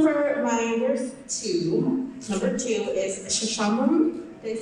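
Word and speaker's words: Sesshomaru: Okay, so for my number two is Shishamaru. Did I say it right? Yep. Shishamaru.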